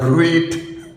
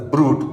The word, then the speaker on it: bruit: Everybody pronounces that Bruit. Somebody say Bruit, T is silent and such thing, but actually it's pronounced as if it is Brute, B-R-U-T-E. Although the spelling is B-R-U-I-T.